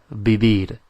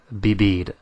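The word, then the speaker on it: vivir: live is be be bibid spell v i v i r bibid and you will notice that we're pronouncing the V like a b like a b so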